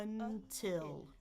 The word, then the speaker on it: until: I u I I until until really I should be saying the second syllable stressed until until Notice my pitch is going higher. I'm holding it a bit longer.